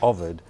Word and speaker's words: Ovid: I do you want to get back to ovid in a minute it's pronounced Ovid not overt it depends okay either soca English got it